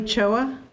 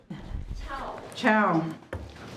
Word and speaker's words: Chao: Choa. Did I say that right? Chow.